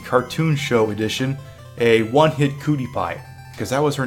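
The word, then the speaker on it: Kootie Pie: All I know is I watched the DVD, the cartoon, her name was Cootie Pie. Not Cutie Pie, Cootie Pie. Like, she's got cooties, but it's spelled with a K because Koopa.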